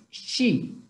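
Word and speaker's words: 十: Y el número diez, hacemos un puño y se dice she. Y este she es muy diferente al número 7 porque este es SH. La lengua tiene que estar más atrás. She.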